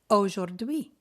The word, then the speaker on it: aujourd'hui: C'est la même chose pour le AU dans aujourd'hui.